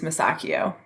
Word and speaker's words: Masacchio: Masacchio is I guess phonetically correct when you look at it, but the Italian way is Masacchio.